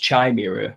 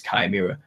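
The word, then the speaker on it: chimera: don't I'm not supposed it's not pronounced chimira if that's what you're getting on it is kimira but chimira hybrid humans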